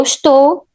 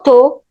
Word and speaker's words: estou: We can reduce the first syllable just to sh, or remove it completely. It could be eu estou, eu tô, tu estás, tu estás, ele está, ele tá.